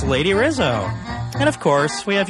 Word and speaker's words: Rizo: the name is from I married a beautiful Colombian man he pronounced it Rizzo and it always felt like a trip people up and I was like it's Rizzo and then when the